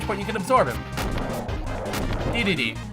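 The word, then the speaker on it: Dedede: Now for this final stage, Mount DDD, or Day-to-Day, as some people pronounce it.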